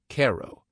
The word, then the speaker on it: Cairo: In 1837, the town of Cairo, pronounced Cairo, was chartered at the Nile-like delta where the Ohio joins the Mississippi.